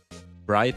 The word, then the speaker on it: Wright: Bright. It's like w i g ht, but you say it like right because it's always right, you know.